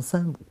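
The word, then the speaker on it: 参伍: 参伍呢，有的人读成三，倾向于读成三伍，就是把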